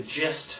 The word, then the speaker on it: gist: we're getting the gist of what this movie's going to be about. You know, Just is a good word. It's a good word to use in filming. gist rhymes with fist.